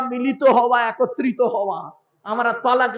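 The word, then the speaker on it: طلاق: হ্যাঁ, এই শব্দটা তালাক নয়, শব্দটা কি? শব্দটা হলো তলাক। কি বললাম? তলাক। ওর আরবি উচ্চারণ হলো তোয়েল আমালিফ কফ, তলাক। বাংলা উচ্চারণ হলো তয়ে বয়ে লয়াকার ক।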